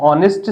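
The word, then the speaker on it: honest: कांसेप्ट यह है कि कुछ शब्दों का जो उच्चारण होता है जो प्रोनंसिएशन है वो साइलेंट होता है तो यहां पे एच का जो ऑनेस्ट शब्द है उसका उच्चारण जो है ओ से आ रहा है मतलब आवाज जो है गले से आ रही है इसलिए हमने यहां पे एन ऑनेस्ट वर्ड का इस्तेमाल किया है ठीक है अब हम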